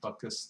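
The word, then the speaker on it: Butkus: org and it's spelled uh Buu t k s kind of like dick buckus the the famous Chicago uh Bears football player but anyway um I've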